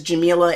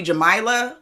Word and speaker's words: Jamila: to tell people that my name is Jamila and it rhymes with tequila, because that's the only way that I get the right pronunciation, because sometimes people call me Jamila for some reason, which or Jamilia, and I'm like, there's not 2. Where'd the extra I come from?